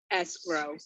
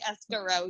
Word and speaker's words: escrow: calls it escort sherry how do you pronounce escrow escrow so this is just a dj i would have ran so yeah no we don't we don't say escaro here we say it's not escaro it's it's another place